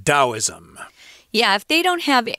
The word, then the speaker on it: Taoism: and sometimes of course people will say taoist which we know is wrong because we've studied chinese before but this is an old romanization system so they spell it with a t so expect to hear western people say tao or taoism when they really mean taoism yeah if they don't